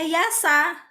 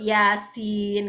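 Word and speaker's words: يس: Jangan-jangan kalau membaca huruf ya dan sin di Quran bacanya yasa, nah, begitu. Padahal kan yang betul yasin gitu ya.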